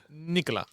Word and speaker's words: Nicolas: But because we want to fool foreigners in French, we don't pronounce most of the time lost consonants. M okay Nicola um if I would put a crystal ball